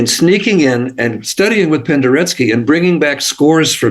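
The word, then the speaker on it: Penderecki: okay Polish composer uh Kristoff Pendery p n d r e c Ki pronounced Pendery Pendery who was a brilliant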